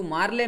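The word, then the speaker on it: Morley: ಈ ಮೋರ್ಲಿ ಮತ್ತು ಮಿಂಟೋ ಎರಡು ಸೇರಿ ನಾವು ಕನ್ನಡದಲ್ಲಿ ಮಾರ್ಲೆ ಮಿಂಟೋ ಅಂತ ಹೇಳ್ತೀವಿ, ಅದನ್ನು ಇಂಗ್ಲೀಷು ಸರಿಯಾದ ಉಚ್ಚಾರಣೆ ಮೋರ್ಲಿ ಮಿಂಟೋ ಆಗುತ್ತೆ.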